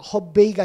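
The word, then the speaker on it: 河北: 그러니까 하북이니까 아까 하는 허로 발음하니까 허베이가 되는 거예요.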